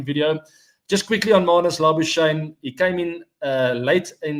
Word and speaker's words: Labuschagne: Labuschagne is how you pronounce it, by the way.